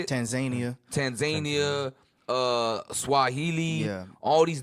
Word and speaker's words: Tanzania: Tanzina, that how you say it? Tanzania.